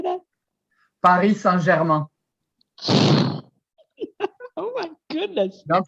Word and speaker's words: Paris Saint-Germain: wait say that again please we call it paris saint-germain how did how did you say that paris saint-germain my goodness don't pronounce that you don't pronounce the aim at